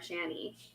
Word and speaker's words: Shandy: Call it Summer Shanny. Shanny. Yeah, but they say that because they pronounce the D as a T, and then the T gets lost in no, it's just